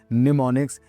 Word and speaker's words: mnemonics: इसकी स्पेलिंग है निमोनिक्स एम एन ई एम ओ एन आई सी निमोनिक। ये एम साइलेंट रहता है इसके अंदर।